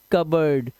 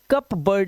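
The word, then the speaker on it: cupboard: कबर्ड क्या पढ़ेंगे इसे कबर्ड कबर्ड मतलब अलमारी तो इसे कप बर्ड नहीं बोलते सिर्फ कप बर्ड ठीक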